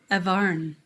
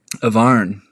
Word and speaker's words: Avarn: So Avarn. You pronounce my name. Avarn. It's a Papua New Guinea name. Avarn.